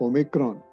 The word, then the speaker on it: Omicron: recent development in the world of infections of omicron or o micron as you want to pronounce it has really left people reflecting and